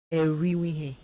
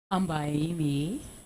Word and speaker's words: Erimiye: Eriwihe. No, please, can you pronounce it? Amber Erimiye. Erimiye? Yeah. Oh, okay.